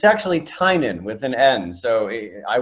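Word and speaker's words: Tynion: watch game of thrones yeah but it's actually tynan with an end so i would make sure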